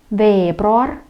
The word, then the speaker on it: veebruar: Итак, esimene, первое, jaanuar, и ударение на первый слог, jaanuar, jaanuar, veebruar, märts, aprill, mai, juuni, juuli, august.